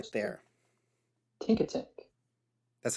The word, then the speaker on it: Tinkatink: Tinkatink.